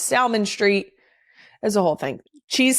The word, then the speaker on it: Salmon Street: is on is on Salmon Street. S A L M O N as in the fish, but it is Salmon Street.